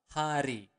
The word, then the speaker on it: hari: Every day is setiap hari. Okay, let's repeat it again slower. Setiap hari. Again, you want to pronounce the word R clearly.